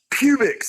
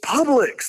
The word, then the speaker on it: publics: Like it's not pubics, it's publics. There's an L in it.